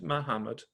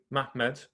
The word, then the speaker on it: Muhammad: In that period, a certain one of them, a man of the sons of Ishmael named Muhammad, or actually I should say it correctly, Mahmed, became prominent.